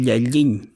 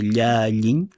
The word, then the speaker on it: Llalliñ: arañas pero el término y aquí lo voy a pronunciar como se dirías que yayin así es la pronunciación como de yayin como yayin yayin que es como la